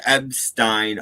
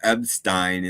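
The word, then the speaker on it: Epstein: have said you know Brian ebstein always pronounced his name abstein and they didn't do that in the movie at all and I think they should have yeah it wasn't like Springsteen it was Springstein yeah no but he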